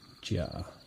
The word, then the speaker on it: Gia: Gia with a J sound. Gia. Gotcha. Am I saying it right there? Gia.